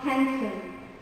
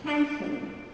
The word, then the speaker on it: handsome: And Brad Pitt is not handsome, he's handsome.